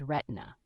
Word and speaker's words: Retina: about a newborn named Retina, pronounced to rhyme with Christina.